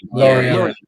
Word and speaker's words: Lorient: Is it Lorient? How do you even pronounce their name? Lorient. Yeah. The fact that only that